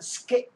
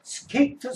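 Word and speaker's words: skate: 예를 들어서 스케이라 것도요 원래 미국인이나 영국인 스케잇 하고 받친 발음을 합니다 근데 이것을 배울 때 스케이트 스케이트 가르쳐 주니까 뒤에 만약에 스케이팅을 한다는 스케이트를 탄다는 개념인 스케이 팅하는 것을 지금 스케이팅 하면 안 되는 거 스케잇 하고 받침발음 한 다음에 해야 되는데 이걸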